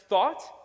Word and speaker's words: thought: pronounced though, and that this is pronounced thought, and that even though they look almost identical, they have nothing to do with one another.